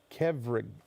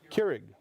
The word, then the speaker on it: Keurig: brought to my attention there's a coffee maker and I don't know how to pronounce it but it's ke v r IG keverage does anybody know how to say that Caragh Keurig okay Keurig so there you go ke v RI